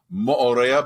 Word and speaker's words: Moorea: in French Polynesia and it is pronounced by the locals as Moorea but it's a lot easier for uh those of us not of Polynesian uh descent to say Maria and that's what we're